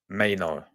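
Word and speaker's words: Mainoo: But it's pronounced Mayno. Mayno. Did I get it right? By the way, Mayno.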